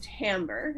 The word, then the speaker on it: timbre: little bit thicker or a word timbre that's doesn't look like it's spelled that way but it's timbre and that's sound quality